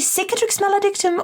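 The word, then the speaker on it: Cicatrix Maledictum: which reminds me uh is it supposed to be sickatrix melodictum or kick it takes Melody excellent I've been saying it correctly wonderful like cicada insect I suppose is the reference point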